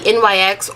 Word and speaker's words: NYX: It's the NYX or NYX, depending on how you say it, Mineral Set It and Don't Fret It Matte Finishing Powder.